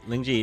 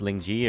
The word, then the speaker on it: Lingjie: like butchering your name lingji is it actually pronounced Ling ji or is it more like Ling yeah or linkedia but yeah even but I say it lingji because my yeah throughout